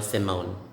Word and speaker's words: Simone: a male person simon female simone for the female you need to add letter e but it remains silent and then you change the pronunciation simon and then simone